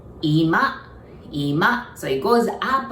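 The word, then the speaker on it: 今: say now we say IMA IMA so it's almost like it goes down the accent goes on the first part okay if you want to say it as a living room we say IMA IMA so it goes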